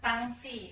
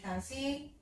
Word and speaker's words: Tansi: Dan ada juga yang mengatakan Tangsi. Nah ini kan pengucapan orang Minang. Namun Bunda lebih memilih Tansi juga melalui diskusi Bunda dengan promotor Bunda memilih kata Tansi untuk menyebutkan bahasa yang